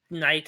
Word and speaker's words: Knight: after a Firebird yeah my name is Knight is spelled k-n-i-g-h-t like knife even though he's actually